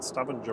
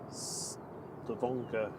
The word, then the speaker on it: Stavanger: She says, I'm saying Stavanger wrong. It's Stavanger. Ooh.